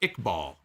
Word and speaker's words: Iqbal: better story to me he says it's pronounced iqbal thank you i saw iq i wasn't sure so thank you iqbal